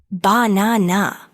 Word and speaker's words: banana: For example, in the word banana, the stress is on the second syllable, banana. If you put the stress